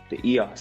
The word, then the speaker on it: EOS: The EOS actually, that's how you're supposed to pronounce it.